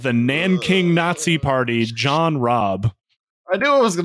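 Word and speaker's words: Rabe: Now, Rob was elected the, I know it's pronounced like Rob or something like that, but I'm not going to try to pronounce the German R's.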